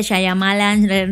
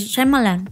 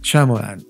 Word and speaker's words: Shyamalan: Sea, pues no, bueno, sé por qué mucha gente dice Shyamalan, no sé qué, se enreda. Es que lo lees y se lee como Shyamalan. Ajá, ¿no? Pero él mismo lo pronuncia, es Shyamalan.